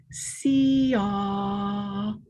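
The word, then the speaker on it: ciah: throat and the nose and the sound is see ah it's spelled c-i-a-h and it's just a long tone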